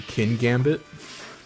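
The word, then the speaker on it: Kingambit: Also, how do you pronounce King Gambit? I still just say, like, King Gambit. You're right, because there is only one G. I guess technically it would be Kin Gambit. Like, Kin Gambit.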